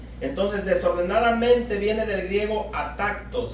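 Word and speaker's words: ἄτακτος: desordenadamente viene del griego at tactos así como suena es a t a acento en la a k de kilo a tactos y quiere decir fíjese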